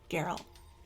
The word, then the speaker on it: Geralt: I said Geralt this time too, didn't I? I finally learned how to say it. What did you say I before? used to say Geralt, like Geralt? Gerald.